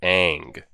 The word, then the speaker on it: Aang: so does he fly aang is how you pronounce it aang but he's not he's well aware so how